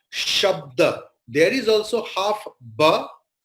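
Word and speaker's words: शब्द: Sha, half ba and ta, shabda. There we'll never say sabada, because the halanta, the half word, is in between the word. Then it will be clearly shabda.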